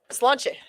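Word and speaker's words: Sláinte: How's that pronounced? Slanche.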